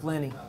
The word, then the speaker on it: Pliny: I pronounced it. Yeah, correctly. Pliny.